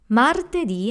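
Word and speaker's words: martedì: we have mother teddy Martha D has three syllables ma remember the hard and rolling are there the soft e and then D Mar teddy Mart Eddie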